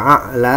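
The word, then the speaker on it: أعلى: Ya, di sini ada ain, kemudian ini dibacanya mati, tidak dibaca ya a'la, ya, ada penekanan dalam leher.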